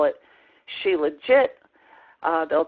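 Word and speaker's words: shilajit: kinds of things but sheilah heat is what um the medical dictionaries are saying the way that you pronounce it it is a Sanskrit word and it means the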